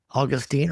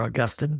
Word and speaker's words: Augustine: was a theologian name named Augustine or Augustine depending how you pronounce his name and I I personally